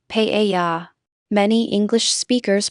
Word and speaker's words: paella: Note that has a subtle emphasis on the first syllable, paella.